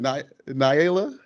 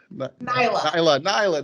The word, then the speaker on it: Nyla: be uh knight i just lost how to pronounce it niela nyla there we go and i just practice it